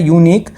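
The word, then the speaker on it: unique: ए क्यों होना चाहिए, यहाँ पे जो लिखा हुआ है यूनिक, तो यूनिक की जो प्रोनाउंसिएशन है, जो साउंड है ये या से आ रही है, मतलब कि यूनिक।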